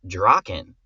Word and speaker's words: Draken: would say it, but in Japanese it's Draken. And we literally had when before we started, we got an MP3 from a Japanese speaker that was like, "This is how you say it."